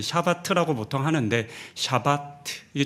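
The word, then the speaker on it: שבת: 어, 안식을 뜻하는 히브리어 샤바트. 이게 발음이 좀 어려운데요. 그 샤바트라고 보통 하는데 샤바트 이게 좀 어렵습니다.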